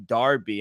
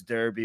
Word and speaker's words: Derby: before we went online you were mentioning Darby and I didn't know if that was on purpose or that's really how you say it but yeah over here you know it's Derby but to each their